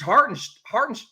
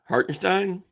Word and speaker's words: Hartenstein: Like, Aiden versus Hartin Hart. Why am I Why am I screwing up his name? Please say his name for me. Hartinstein.